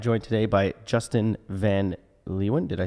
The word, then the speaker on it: Leeuwen: pronounce my last name I say Lewin Lewin which is phonetically not how it is but that's just kind